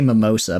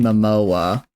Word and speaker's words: Momoa: I need to look it up to make sure I say it right, because I'm gonna say mimosa, but that's a drink. Jason Momoa.